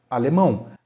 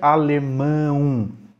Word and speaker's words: alemão: Como, por exemplo, na palavra alemão. A gente percebe dois sons vocálicos no final, e na mesma sílaba. A gente não pronuncia alemão, certo? A gente pronuncia alemão.